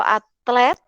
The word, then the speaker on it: atlet: Bacanya jangan sampai ketukar ya, tertukar dengan. Jadi biasakan membaca itu sesuai dengan hurufnya. Kalau atlet ya atlet. Kalau atlet ya atlet. Jadi kedengaran bunyinya bedanya.